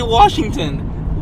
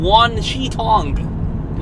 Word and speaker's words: Wan Shi Tong: I've been struggling to pronounce his name. Washington? I keep wanting to say Washington. Wan Shi Tong.